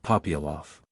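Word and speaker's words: Попялов: The accent falls on the second syllable of Ivan, on the first of Popyalov.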